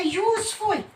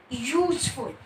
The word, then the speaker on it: useful: E, I, O, U, that this is a vowel, but it's unusual. There is not a vowel sound. It consists of consonant sounds. That's why we will use A before useful.